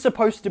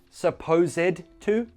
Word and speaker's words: supposed to: You don't pronounce the ed. Supposed to?